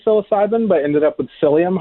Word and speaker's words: psyllium: but ended up with psyllium husk which also has a silent P up front which is what Metamucil